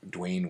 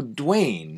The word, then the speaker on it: Dwyane: So Dwayne, Uh-huh. in this case of this particular gentleman, Mm-hmm. is spelled DWYANE instead of DWAYNE. So like, if you try to pronounce it, it's like Dwayne.